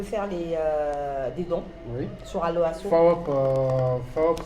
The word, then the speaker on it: PHAWOP: FAOP, ça s'écrit PHA. WOP.